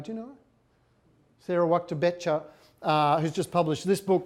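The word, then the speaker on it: Wachter-Boettcher: Sarah Waktabecha, who's just published this book, which I've not yet got.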